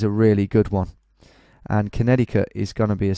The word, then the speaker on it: Connecticut: Okay, on to Connecticut. Connecticut, I've always called it, but when I hear actual Americans say it, it's Connecticut.